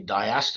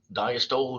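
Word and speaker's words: diastole: through the body now I've heard these words pronounced wrong um it's actually diast and syy I've heard dasto and CYO I've even heard doctors say that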